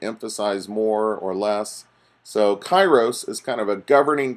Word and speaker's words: kairos: I wanted to give to you is called Kairos que AI r OS and does not have